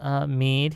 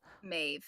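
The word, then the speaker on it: Meadhbh: We're joined by our friend, Miss Mead here. And I'm not sure that's how you say it, but hopefully it is. Maeve. Maeve, Maeve. sorry, D always Mead. throws people off.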